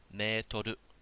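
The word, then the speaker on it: メートル: Alright, Japanese people still pronounce this a certain way. Alright, don't let your English brain take over. Metoru. Long, we got a yokobo in there.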